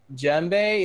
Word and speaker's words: djembe: like oh no what djembe it's a djembe or murabba it's djembe it's a djembe see it's a freaking djembe it starts with the D but you don't pronounce the D I knew that okay